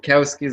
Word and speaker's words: Wachowski: the matrix the Wachowskis well cows keys I believe that's how you pronounce it ah quite an awesome